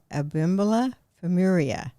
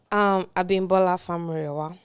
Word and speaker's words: Abi Famurewa: And I still, with my southern accent, cannot pronounce it. But I say it's Abi Famurewa. And she says... No. So tell me, so say it correctly. Abi Famurewa.